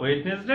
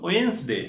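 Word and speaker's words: Wednesday: এই টুইসডে না টুসডে বলবা, আর ওয়েডনেসডে না এটা ওয়েন্সডে, হ্যাঁ, মনে থাকবে।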